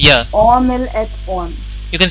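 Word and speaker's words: mille: So E is silent.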